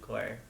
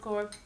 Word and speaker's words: Corps: Well, for starters, there's Food Corps Massachusetts Facebook page, as well as the Food Corps national level Facebook page. So they just search for Food Corps.